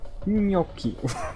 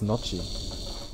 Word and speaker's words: gnocchi: Gnocchi. What? Gnocchi. Gnocchi. Yeah, okay. Gnocchi. I thought it was Nocci.